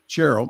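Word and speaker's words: Sherrill: And in New Jersey, another moderate, uh, Representative Mikey Sherel, is that how you pronounce it? Charel. Cheryl, I thought Cheryl. Okay. um busted apart the coalition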